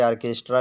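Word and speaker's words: orchestra: से आर्केस्ट्रा लिखा जाएगा और यह लिखा है आर्चे लेकिन इसको पढ़ा जाएगा आर्केस्ट्रा क्योंकि यहां पर जो एच है यह साइलेंट रहता है बीच में सी एच के बाद जो एच है वह साइलेंट रहेगा ऑर्डर ऑर्डर माने होता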